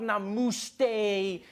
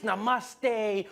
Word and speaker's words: namaste: on like dude it's not namuste it's namaste who messes up namaste this